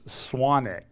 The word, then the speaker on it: Swanwick: Hayes Conference Center in Swanwick. I was told that the W is silent.